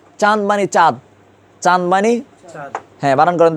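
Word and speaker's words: چاند: এরপর দেখেন চাঁদ, চাঁদ মানে চাঁদ, চাঁদ মানে চাঁদ হ্যাঁ বানান করেন তো একজনের চাঁদটা।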